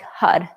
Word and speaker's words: Har: same time so hard it's spelled har but it's pronounced more like HUD so as you say